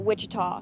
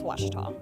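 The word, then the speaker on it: Ouachita: Back in Texas, everybody pronounces it Wichita, but really, it's Washita. Washita.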